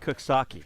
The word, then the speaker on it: Coxsackie: I found one time that on my way up upstate to the Baseball Hall of Fame, there's a place it's spelled Coxsackie, but it's pronounced Cooksaki.